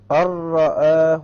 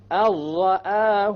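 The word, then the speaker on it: أن رآه: So make sure that when you do this idgham, you don't fall into the other mistake of rolling the ra. Okay? Samir, why don't you pronounce it properly? أَرَّآهُ اسْتَغْنَى.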